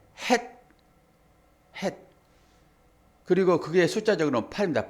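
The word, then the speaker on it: ח: 내일 모레 이제 똑같은 글씨인데 숨구멍이 없는 딱 막힌 그것은 발음 자체가 된 발음이에요. 헷.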